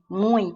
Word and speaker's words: muito: Esse ui aqui, ó, não é igual o ui de fui, ó, muito, tá vendo? A pronúncia é diferente, muito. Então, tradicionalmente, isso aqui é